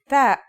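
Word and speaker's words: ت: The pronunciation is like the English T, except you should release your breath with a strong burst of air.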